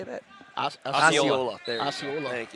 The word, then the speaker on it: Osceola: Osceola.